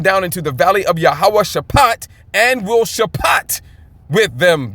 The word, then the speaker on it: Yahweh Shaphat: Yahweh Shaphat, okay?